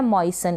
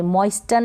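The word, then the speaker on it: moisten: फिर यह है मॉइसन, इसको आप मॉइसन पढ़ेंगे, मॉइस्टन नहीं पढ़ेंगे, टी को प्रोनाउंस नहीं करेंगे, टी साइलेंट है।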